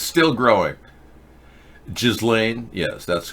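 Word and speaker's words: Ghislaine: 25 days ago allegedly and it's still growing jizz Lane yes that's correct pronunciation happy hour it's called galane the the S and the the J are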